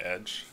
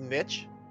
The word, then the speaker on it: Niche: You want to be called Niche, right? Not Edge. It's pronounced Niche. Niche. It is. Okay. It looks like Niche. It can be pronounced both ways or correct, but Niche is how he would say it.